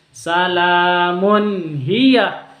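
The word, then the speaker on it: سلام هي: Salamun hiya, tanwinnya dibaca mun, hi-nya juga jelas. Salamun hiya, dan jangan disentak. Izhar itu jangan disentak cara bacanya. Salamun hiya harus dilembutkan. Hatta ini mad tabi'i karena ada fathah berdiri.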